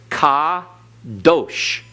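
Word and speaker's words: קדוש: the first one is Ka Dosh Accent on last syllable because in Hebrew the accent is on the last syllable unless otherwise indicated all right kadosh everyone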